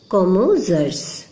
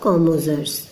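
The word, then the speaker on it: psammoseres: Next question है plant succession taking place in Sandy areas, तो इसमें से क्या होगा, कॉमोजर्स, क्योंकि पीएस साइलेंट है इसलिए इसका आंसर होगा कॉमोजर्स।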